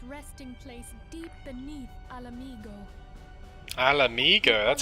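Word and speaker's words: Ala Mhigo: Alamigo, that's how you say it.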